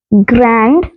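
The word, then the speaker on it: grand: simple है तो देखिए ग्रैंड ग्रैंड को फ्रेंच में जी आर ए एन डी ही ते हैं ग्रा ग्रा बट प्र प्रोनाउंस किया जाता है ग्रा ग्रा इट्स प्रोनाउंसड एज ग्र एंड एम ई आ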